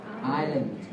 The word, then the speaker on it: Island: Đấy, ta nhớ cái chữ Island không bao giờ có chữ S. Thì không đọc là Iceland mà đọc là gì? Island.